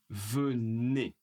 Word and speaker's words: venez: Alors vous poli, vous plel vous venez vous venez. Attention le E et le Z font le son.